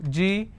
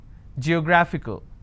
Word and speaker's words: geographical: How many syllables do I have? Ge-gra-phi-cal. Now this fickle is coming up to 2 syllables, right? But this will still be combined as word ending, and this is the stress. Geographical.